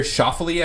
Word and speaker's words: Schauffele: What about that child making noise during Xander Oh, Schauffele's?